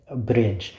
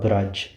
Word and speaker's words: Braj: them from Sanskrit into a language called Brij, which is sometimes called Braj, right? I've heard it referred, there's slight variations in the pronunciation. I've heard it referred to as both.